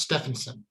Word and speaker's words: Steffensen: uh thank you alan my name is pronounced stefansson stefansson jefferson yeah that's how